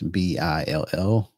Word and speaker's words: Billionheir: the hat, but it's a play on, you know, the word billionheir, except it's spelled differently. So, you know, it's for those that are not watching this on YouTube and are listening, it's BILLIONHEIR, billionheir, and then flow.